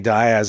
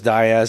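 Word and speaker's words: Dias: Das I was like did I say his name wrong Denny Diaz I just said his name wrong oh it's okay I said it wrong for years I didn't know it was Diaz until like a year or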